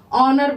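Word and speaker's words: honour: क्या आ रहा है इसको हम लोग होनर नहीं बोलेंगे क्या बोलेंगे ऑनर बोलेंगे ठीक है ऑनर में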